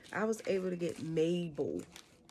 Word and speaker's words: Mabel: I was able to get Mabel. I thought her name was Maple, but it is Mabel.